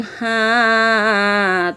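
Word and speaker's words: حاء: লম্বা হা উচ্চারণে গলায় শোষ শব্দ হবে, নইলে গুল হা অথবা গোল হা আদায় হয়ে পড়া হারাম হয়ে যাবে। খাড়া বাঁকা চিহ্নের এই জায়গায় সাবধান হও, গোল হা আদায় হয়ে যেতে পারে।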